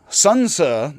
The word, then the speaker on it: Xunzi: But Xunzi, the X pronounced HS, Xunzi with a bit of an S, is the cynical Confucian